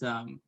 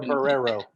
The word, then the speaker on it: Barrero: It's Barrero. Oh, Barrero. Or Barrero. The Americanized way to say it.